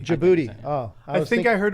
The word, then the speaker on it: Djibouti: Djibouti. Djibouti.